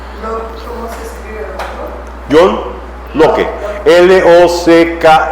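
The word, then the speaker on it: Locke: L O C k E. Lo que como lo cerradura con e. Lock.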